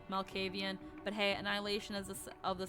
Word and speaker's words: Malkavian: Malkavian. Malkavian.